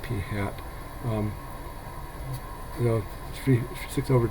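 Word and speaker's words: p̂: by the way um sample proportions are represented by P with a a hat on top and it's usually pronounced P hat um the three six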